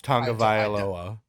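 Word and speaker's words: Tagovailoa: like we're winning in i'm gonna have to learn how to say this man's last name for the record in case you didn't know it's tonga vialoa for everybody listening for the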